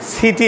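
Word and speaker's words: city: সিষ্ট সিষ্ট body body সিটি আমরা বলি কি সিটি ওরা বলে এই টি টাকে ড উচ্চারণ করে ঠ উচ্চারণ বলো সিটি সিটি সিডি সিডি বলো সিডি সিডি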